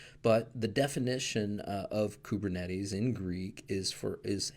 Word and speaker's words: Kubernetes: equivalent to being wrong so stick with kubernetes now one other pronunciation that I have heard is kubernetes this one I'll just go ahead and say is definitively wrong you'll probably be pegged